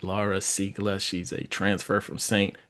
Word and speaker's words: Ziegler: Now, her name, when you look at it, it looks like it's Ziegler. That's how we would pronounce it here, but she is actually from Denmark, and I'm trying to pronounce it the way that it's supposed to be pronounced. And I still might have messed up a little bit, but I've gone over with her a couple of times, and I think I got it right.